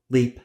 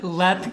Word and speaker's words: Leap: castle today we discuss leap Castle leap Castle LEP sorry sorry LEP Castle it's spelled as we would say say leap l e a p but it is pronounced LEP LEP C now I